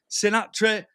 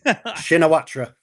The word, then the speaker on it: Shinawatra: Taxing Sinatra. I can't pronounce it, mate. Shinawatra.